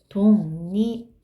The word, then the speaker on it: 독립: 독립. 이게 이제 발음기호 표시예요. 자, 보세요. 비음은 미음, 니은, 이응이라고 했어요. 미음, 니은, 이응이죠. 그런데 기역은 이 안에 들어가 있잖아요. 그쵸? 비음이 아니죠? 그랬는데 어떻게 됐어요? 이응인 비음으로 변했죠.